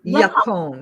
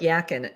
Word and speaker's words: yacon: Now, that's the is it Yacon? Yacon. Yacon. Okay. It looks like yakin, but Yacon it's pronounced syrup, yacon.